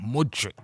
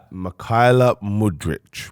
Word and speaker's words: Mudryk: His name is MYKHAILO MUDRYK. MUDRYK.